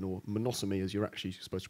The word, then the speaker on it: Mnemosyne: I'm gonna talk to you about something called never sign or monosomy as you're actually supposed to pronounce it so monosomy is the Greek Titan of memory we've spent the last year calling it member sign and last week I was talking to a